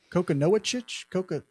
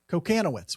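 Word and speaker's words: Kochanowicz: Then they got a guy named, I'm going to mispronounce this one, Mike, how would you count? Kokonowicz? Kokonowitz? Kokonowitz? Yes. Kokanowitz. We're going to call it Kokanowitz.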